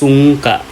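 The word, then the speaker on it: sungka: kicks the most wins the last is sonka it pronounced sunka is a turn based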